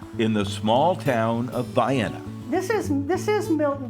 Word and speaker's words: Vienna: It is the town of Vienna. Yes, that's the way you pronounce it.